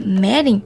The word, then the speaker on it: Merin: pensei tá fácil professor merin se pronuncia meren de geografia completou dizendo